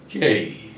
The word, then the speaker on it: K: 11 আমরা একে কে হিসাবে জেনে এসেছি, আসলে এর উচ্চারণ হলো ঠিক এই যেই এর মতো, কেই কেই কে।